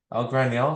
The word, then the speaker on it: Ell Graniel: Today, I'm excited to announce Ell Graniel. Am I pronouncing that correctly? Yes. Okay, Ell Graniel.